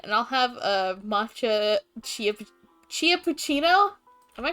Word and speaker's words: Chilla: Chia like a chinchilla.